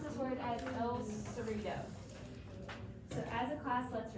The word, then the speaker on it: El Cerrito: And we're going to pronounce this word as el cerrito.